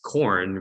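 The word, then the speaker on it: Quorn: that's a fungi is is corn which is spelled q-u-o-r-n and that's in the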